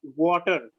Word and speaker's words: water: The T turns into D. The T sounds like a D.